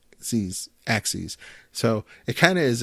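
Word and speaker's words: AXYZ: was made by a company in Canada called axes which is kind of counterintuitive because it's spelled a X Y Z now I always looked at that I've seen the the company name before and I didn't know that it was pronounced axes it just didn't occur to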